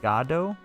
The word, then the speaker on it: Godot: I guess the creator, is pronounced Godot. Like God O.